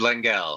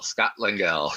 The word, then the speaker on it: Lengal: did I pronounce it? You said Lengel, Scott Lengel.